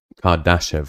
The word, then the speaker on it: Kardashev: Kardashev.